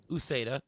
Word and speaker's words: Uceda: How do you pronounce his last name? Is it Ucheda? Uceda.